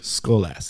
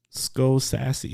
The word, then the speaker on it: Skolaski: how do we pronounce how do we correctly announce skolas skolas yes okay skull sassy sounds so good it